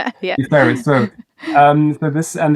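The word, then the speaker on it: DFHERIS: Um I let you pronounce the abbreviation deferris we usually say deferris deferris.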